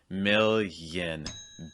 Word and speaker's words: million: you should make is that the stress is going to be on the first syllable the second part this yin sound should be really fast million billion trillion another